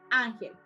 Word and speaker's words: ángel: A ver, el primer ejemplo que tenemos aquí es ángel. Dividamos las palabras. Ángel. ¿En dónde lleva la fuerza? En la primera sílaba.